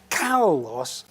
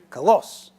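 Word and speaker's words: κάλλος: 2 lambdas and the accent on the first syllable. So when I speak it, I'm going to say kalos instead of kalos.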